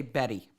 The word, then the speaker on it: Betty: See, in the U.S., we'd say Betty. Betty. Almost as if it was spelled with 2 D's. Yeah. But they make a point of doing hard T's.